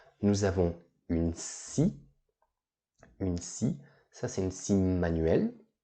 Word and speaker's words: scie: Une scie, ça c'est une scie manuelle. D'accord? Donc une scie. Attention à l'orthographe, hein, c'est S-C, comme ça. Une scie.